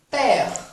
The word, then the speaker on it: père: Mère, père. Mère, père. Esse ezinho do final é como se fosse um e mudo, tá?